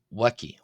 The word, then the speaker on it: ⲃⲁⲕⲓ: Here the letter B or W is uh B being the transliteration of course uh is pronounced as a W sound. A WW.